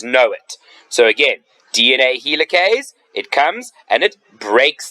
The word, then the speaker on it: helicase: DNA helicase so DNA helicase again the helicase sounds like the word helix remember the shape is